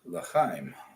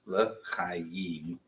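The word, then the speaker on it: לחיים: Uvoenu l'chaim. L'chaim. Okay. Yeah, it all kinds of gets slurred together. It's l'chaim, L'chaim. but it gets crushed and it's just l'chaim.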